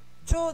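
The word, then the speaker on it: ちょ: Cho desu. Cho. Bien joué tout le monde. Ça se lit bien cho. C-H-O. Et ça, on entend un T à la prononciation.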